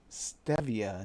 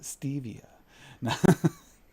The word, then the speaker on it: stevia: Because stevia, not stevia.